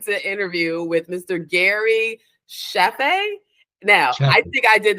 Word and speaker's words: Chaffee: It's Chaffee is how I've always pronounced it, Chaffee. But you know what? Most people say Chaffee, and as long as you call me for dinner, I'm coming. Doesn't matter what you call me, but it's Gary Chaffee.